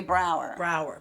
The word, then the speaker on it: Braugher: I don't know how to pronounce his last name. Oh, and Andre Braugher.